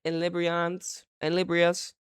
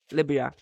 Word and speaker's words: Liberia: The development is widely regarded as a landmark movement for gender inclusion, representation, coaching diversity in Liberia's football.